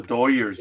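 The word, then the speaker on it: Dodgers: Uh, the way you pronounce it is the proper East Coast. Over here on the West Coast, Big Dog and I have the proper Southern California one. It's Doyers. Los Doyers.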